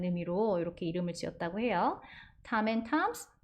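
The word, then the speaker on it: Tom N Toms: 탐 앤 탐스, 톰 앤 톰스 아닙니다. 탐 앤 탐스 발음 한번 해보실까요?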